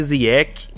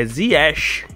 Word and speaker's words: Ziyech: mundo né até então todo mundo chamava de ziec ziec mas a pronúncia correta do nome dele é yeshi isso mesmo Zika Então vamos lá dito